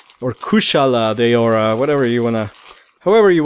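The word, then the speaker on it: Kushala Daora: Here we have Kashala Deora, or Kushala Deora, whatever you wanna, however you wanna pronounce it is fine. Technically it's a U, so I guess it's Kushala or Kashala.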